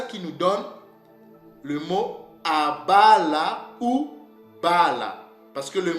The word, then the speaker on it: Abraham: Ces mots-là ne se prononçaient pas, nos pères ne le prononçaient pas Abraham, non. Ces mots se prononcent ou se prononçaient Abala ou bien Bala.